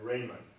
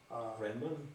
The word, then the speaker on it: Riemann: I ran across a classical paper written by Raymondrahman. Is that one of the more recent people in geometry who I think Einstein used some of his ideas? Is it Raymondrahman? I'm not pronouncing his name correctly. Riemann.